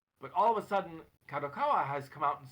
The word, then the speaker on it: Kadokawa: Or did I pronounce that right? Kadokawa, yeah.